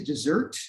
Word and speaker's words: desert: and then lastly is dessert which is also it's actually pronounced dessert even though it's spelled desert and this is about